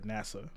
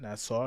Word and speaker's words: Nassau: uh shout out to or NASA not Nassau is that how you say it yes how you say it uh the Bahamas for some reason I always think it sounds like the space station NASA but uh shout out